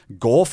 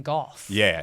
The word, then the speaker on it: Gauff: last name correctly, but I believe it's Gauff. Is it Gauff rather than Goff? Yeah. It's got a bit of an aw. Well, not Gauff. Gauff. Well, it is spelt with the or The or sound, yes.